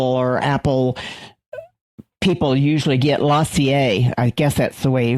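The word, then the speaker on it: LaCie: but Apple compatible or Apple people usually get Lassier I guess that's the way or Lacy I don't know how you pronounce that. It's Lacy and those are a lot more expensive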